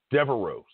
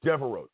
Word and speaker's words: Devereux: Devereux. Stephon Devereux. Just like that, say it like that.